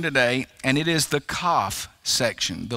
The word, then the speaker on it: Kaf: and it is the Kaf section, the letter Kaf. It's spelled here in my translation, K-A-F. A lot of times you'll see it spelled K-A-P-H, but the pronunciation would be the same either way.